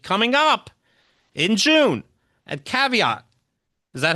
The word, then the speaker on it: Caveat: It's from 2020 and coming up in June at Caveat. Is that how you pronounce it?